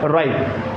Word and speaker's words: ripe: Check the sound of I here. Okay, here rip, rip. Here ripe. यहाँ ripe. Okay, ripe, rip, ripe, rip. This is not ripe, ripe. This is not ripe. This is ripe, ripe. Okay. E here silent.